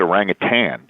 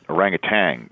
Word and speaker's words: orangutan: process properly you said orangutan how many people put the G at the end orangutan you know a lot